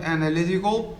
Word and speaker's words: analytical: can see it here the third syllable is the stress syllable the one that receives the stress compared with other syllables